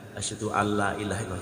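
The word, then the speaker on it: أشهد أن لا إله إلا الله: Ketika ada seorang muadzin, lafal asyhadu an la-nya itu baca pendek, padahal harus dibaca panjang. Kan asyhadu an la ilaha illallah. Hanya harus jelas. Asyhadu an la ilaha illallah. Mana hanya harus dijelaskan, harus jelas. Pelafalan huruf hanya itu harus jelas. Asyhadu alla panjang, antara la pertama dan la kedua adalah panjang la yang pertama.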